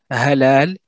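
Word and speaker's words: حلال: Et là, vraiment, le ha, ce que je dis souvent, ça ressemble en termes de prononciation, à du papier de verre qui frotte du bois. Ça fait un... C'est beaucoup plus expiré, alors que celui-ci, il est aspiré. Halal, ou hilal, et halal.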